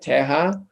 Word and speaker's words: Terra: When there's two R's, they don't pronounce it, Terra, which means like the land studio.